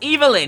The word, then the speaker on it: Evelyn: you she's not evil her name is pronounced evilin it's super duper obvious